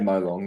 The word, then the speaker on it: Molong: Yeah, because you're born in, is it Molong? Is that how you say it? Molong, yeah.